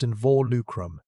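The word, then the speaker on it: involucrum: And around the dying tissue, Big Al's body had grown a sleeve of new bone called an invalucum, pronounced in vor lucrum, a biological containment wall, the skeleton's version of quarantining a fire.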